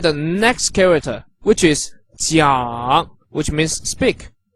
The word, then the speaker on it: 讲: So J pronounced J, and I pronounced E, and A-N-G pronounced Ang. So all together, 这一昂江, 这一昂江, with the third tone, which goes from up to down and then up again.